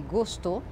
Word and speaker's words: gostou: Ele gostou, gostou, c'est la dernière syllabe qui est la syllabe forte.